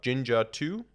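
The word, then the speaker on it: Jinja2: a templating engine called I think it's pronounced uh Ginger 2 like j i NJ A2 um and this templating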